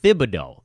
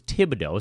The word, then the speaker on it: Thibodeau: team didn't know that his last name was actually pronounced Thibodeau. They thought his last name was Thibodeau, so they started calling him Tibbs.